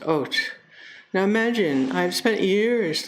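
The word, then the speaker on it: אות: It's pronounced Ot.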